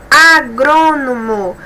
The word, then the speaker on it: agrônomo: Vamos observar aqui, por exemplo, agrônomo. Observe, a sílaba mais forte é a antepenúltima, então é proparoxítona.